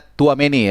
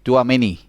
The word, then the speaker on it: Tchouaméni: Nah, ini bacanya Tchouaméni ya, jadi kayak tua tapi ada C-nya sedikit, Tchouaméni.